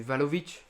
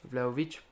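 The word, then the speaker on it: Vlahović: même perdu Chesny on a quand même du valovic vlaovic je crois que ça se prononce comme ça valovic vlaovic pardon vlaovic qui est qui est très bon qui est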